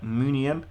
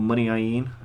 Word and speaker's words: Muniain: Inter, they brought in Ika Munian, or Muniain as he's pronounced.